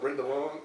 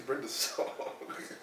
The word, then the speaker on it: Brenda Song: You know when Mike was on, he said Brenda Long. Her name's Brenda Song.